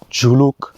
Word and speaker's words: Zuluk: সেটা হলো গিয়ে যে জুলুকের উচ্চারণটা ইটস একচুয়ালি জুলুক ঝুলুক বা ঝুলাক এরকম অনেক ধরনের উচ্চারণ আছে এবং 1959 অব্দি কিন্তু